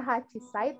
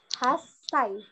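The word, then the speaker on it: 八歳: harusnya hachisa ya Nah itu bukannya hachisaid tapi Cinanya itu diganti sup kecil itu 8 kalau 18 juga sama berarti Zoo hasai seperti itu Oke lanjut nah ini juga ada yang berbeda sekali berikan kalau pokoknya yang belakangnya 8 dan belakangnya satu itu udah pasti bukannya Ichi tapi esai bukannya haci tapi hasai Nah selanjutnya itu ada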